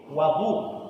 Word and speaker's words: wadu: Adapun air yang kita gunakan untuk mengambil wudu dipanggil wadu. Sebab kita pernah baca dalam hadis wudu'u Rasulillah. Wudu'u Rasulillah bukan wudu Rasulullah. Air berwudu Rasulillah. Wudu dan wadu.